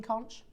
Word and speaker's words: conch: have a limited edition selection of your queen con now just so you know or con as it's meant to be pronounced is it because I never I don't